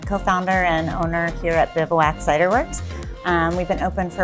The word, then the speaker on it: Bivouac: So the word bivouac, I would say the first question everybody asks is, how do you pronounce it?